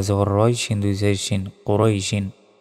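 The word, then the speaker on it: قُرَيْشٍ: রই সিন দুই সিন কুরাইশিন এখানে থামলে উচ্চারণটা হবে কুরাইশ আমরা অনেকে বলি লি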